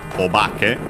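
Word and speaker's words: お化け: With this honorific prefix, so the accent changes, it becomes, it's on the obake, low, high, low.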